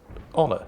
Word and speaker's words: honor: hour oh you are you don't pronounce the h at the beginning of honor it's just honor it's not honor it's